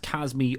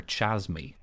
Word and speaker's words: Chasme: and it is pronounced Casmir I think yes according to the Forgotten Realms Wiki it's pronounced kasme or chasme so she has me